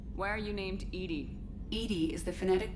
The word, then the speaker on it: EDI: a specific inquiry why are you named edie edie is the phonetic pronunciation of that is an acronym for enhanced